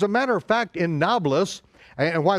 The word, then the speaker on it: Nablus: and children as a matter of fact in Nablus and why it's called novelist's is because the the arabs can't pronounce a p it's it was Neapolis Neapolis